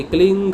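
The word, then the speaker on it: क्लीं: अगर सही उच्चारण ज़रूरी नहीं होता तो गुरुदेव जब कहते हैं ना, देखो भाई तुमने क्लिंग जपना है, क आधा क लय में मिला हुआ, ल को बड़ी की मात्रा ऊपर बिंदी।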